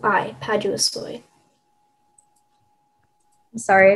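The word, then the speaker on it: paduasoi: you repeat all the information please thank you padua soy uh that's the only pronunciation it's a noun that arrived in english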